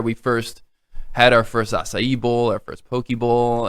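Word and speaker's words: açaí: And it's pronounced acai. Acai. I gotta hear it. We from get the everything. We expert. get acai. We get it's acai. It's a Brazilian berry that there's a part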